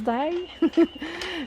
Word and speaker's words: die: Ça se prononce die.